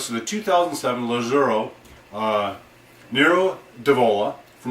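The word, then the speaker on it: Nero d'Avola: new to you this is the 2007 Lazo Nero devola Nero devola also sometimes pronounced nuro diavola um everything I've seen says it should be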